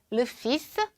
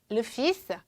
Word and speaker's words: le fils: 자, 아들, 불어로는 le fils, le fils,라고 하시면 됩니다. 여기 L은 발음 나지 않고 S 발음이 나고요.